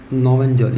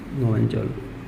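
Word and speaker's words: Knoevenagel: इसके अंदर एक तो है बेंजोइन संघनन, दूसरा है एल्डोल संघनन, तीसरा है परकिन संघनन, और चौथा है नोवेंजल। ये है ना, के साइलेंट रहेगा इसमें, नोवेंजल, नोवेंजल।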